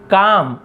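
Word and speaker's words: calm: द मैन यानी आदमी, वॉज यानी था, काम तो आदमी क्या था, शांत, इसे काल में नहीं पढ़ेंगे, काम पढ़ते हैं, एल साइलेंट होता है।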